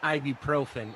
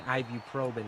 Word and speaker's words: ibuprofen: one is not right it's called ibuprofen and IBU probin is wrong this is an interesting